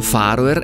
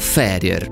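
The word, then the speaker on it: Fær Øer: le isole ferie non si pronunciano farmer e nemmeno faro e ma appunto ferie e per inciso non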